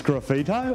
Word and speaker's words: Sgraffito: era for 25 years our business name is graffito it's a silent g we frame everything from